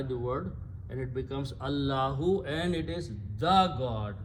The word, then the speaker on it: Allah: you write these together this Al if is not pronounced and Al removes One D so this becomes Allah and that's the word